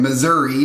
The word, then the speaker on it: Missouri: Those of you from Missouri know that you actually pronounce it Missouri.